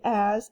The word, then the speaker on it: as: must know by heart it's not a z in fact it is an s and you just have to know that part by heart so the red word as is spelled a s